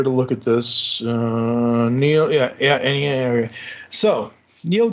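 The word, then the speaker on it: Neal: I can think of because of the way it's spelled NE a l okay so Neil and then we get Gibson okay the only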